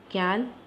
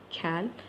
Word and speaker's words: quel: So masculine means cal, and for the feminine means cal, and plural also cal, and feminine also cal. These four are same pronunciation, but the spelling is different.